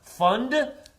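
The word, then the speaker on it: Fundecks: Well, I tell you what, Fundex is a great idea, and just the way it's spelled, F-U-N-D-E-C-K-S. Fundex.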